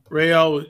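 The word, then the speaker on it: Raël: Iranians talk about this rayelle rayelle was Claude vortel Horner pronounced his name a race car driver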